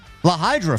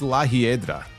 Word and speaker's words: La Hiedra: I think it's La Hiedra. I've pronounced it the way I see it. I agree. That's probably the way you pronounce it. That I'm pretty sure I'm right.